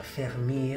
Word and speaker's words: Vermeer: fiammingo johan der meer che come sapete si pronuncia fermi a compose il più